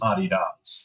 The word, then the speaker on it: Adidas: supposed to be wearing Adidas it's in the Old Country it's pronounced a dots just for prop anunciation